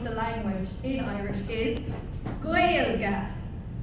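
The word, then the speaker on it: Gaeilge: Or the Irish language in Irish is Goya. If you want to try repeating that after me, that's probably the most important thing you'll learn today is the name of the language in Irish is goya.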